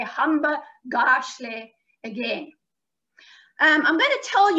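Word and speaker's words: hamba kahle: And you say hamba gashle. Now, that word is spelt with a K, but it's a G sound.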